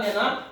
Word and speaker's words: the: अगर यहाँ पर वॉवेल आता है तो उसको दी पढ़ेंगे, अगर कॉन्सोनेंट आता है तो वहां पर दा पढ़ेंगे।